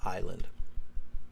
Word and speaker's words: island: Island. Yeah, it's no, Island, sorry. Yeah, you don't pronounce that S.